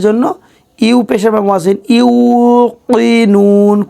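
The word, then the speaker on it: يوقنون: ইউ পেশের বাম আছেন ইউকিনুন, কব জিব্বার গোড়া থেকে মোটাভাবে উচ্চারণ হবে, এজন্য বলবেন ইউকিনুন এইভাবে।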